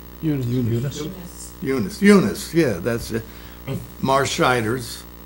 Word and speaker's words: Eunice: so anyway uh i don't know how to pronounce her first name e-u-n-i-c-e you know eunice eunice yeah that's it marsh uh she would